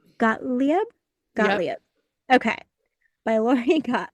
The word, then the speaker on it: Gottlieb: I'm gonna mess up her last name pronunciation. Gottlieb.